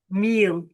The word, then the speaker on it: mil: Here a thousand is meal. Meal. Yeah. Meal. Pronunciation with the e, the i is always e. Meal.